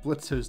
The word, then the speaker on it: Blitzo: Fox number eight on the wall behind Blitzo's desk lamp. It's Blitz. The O is silent. How many times do I have to tell you people?